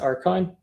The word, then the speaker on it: Akron: have you heard about the uh the USS archon uh that's that's one of those is that how you pronounce it are those are the Akron yeah certainly I have so was the Akron